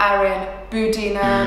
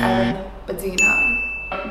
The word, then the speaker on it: Erin Budina: So you pronounce it Erin Budina, not Erin Budina, not Erin Budina, it's Erin Budina.